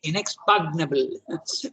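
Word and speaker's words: inexpugnable: a very strange language you normally pronounce it inexpectable but the G is not pronounced okay so just one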